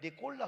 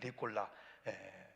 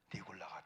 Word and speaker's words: 니골라: 목사는 니골라는요, 니꼴라 그래야 된다는 거예요. 니꼴라. 그런데 니골라가 이렇게 뽑았는데도 나중에 계시록 가보니까 니골라가 또 하나님 반대편으로 가네.